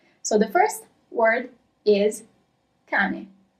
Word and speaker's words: cane: So the first word is cane. Is there a double letter or not? Cane. I'm always gonna repeat it twice. And no, there isn't a double letter, so you write it as, in Italian, C-A-N-E, and that means dog.